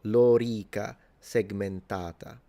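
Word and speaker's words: lorica segmentata: length, th this vowel, the o and the e are both long. So it's lora and then segmentata. So this ah is long. So lora segmentata is how you pronounce it.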